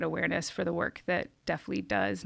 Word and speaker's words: DeafLEAD: And I want to make sure that I'm saying the name right, because I pronounced it wrong. It's DeafLEAD. Mm-hmm. Okay, DeafLEAD.